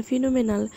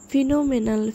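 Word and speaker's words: phenomenal: O Fino ME এন ফিন এম এন এল ফিনোমেনাল ফিনোমেনাল ফিনোমেনাল পি এইচই পি এন O Fino M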